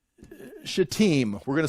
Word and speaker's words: Shittim: They've come to this place right here that is going to be called Shittim. We're going to say that, that's how you pronounce it, Shittim. I know it's a dangerous word. It's Shittim.